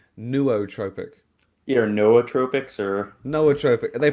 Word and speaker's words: nootropic: See, I've always said nootropic, right? Like NOO, new. I have heard a lot of people say nootropic.